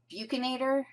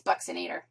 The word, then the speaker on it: buccinator: nator buxin nator looks like it should be pronounced buccinator or Bator it's buxin nator and here's where it is it's a deep